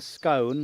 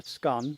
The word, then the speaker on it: scone: um whereas we have a scone or a scun depending on how you want to pronounce it um which is more